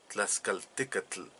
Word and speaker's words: Tlaxcaltecatl: Me parece que debemos cambiar a TL así bien clara como es. TL, tl, Tlaxcaltecatl, Xicotencatl.